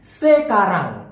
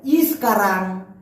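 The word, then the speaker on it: sekarang: এখন ভাষায় বলা হয় সে কারণ আমি আবার বলতেছি সেকারাং অনেকে বলে ইসকারাং কিন্তু মূলত সঠিক উচ্চারণটা হবে সে কারণ সেকারাং অনেকে বলতে পারেন তাহলে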